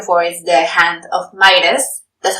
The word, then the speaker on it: Midas: So what he's looking for is the hand of Midas. That's how you pronounce it, right?